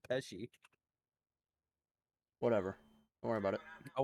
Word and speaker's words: Pesci: You called him Joe Pesky instead of Pesci.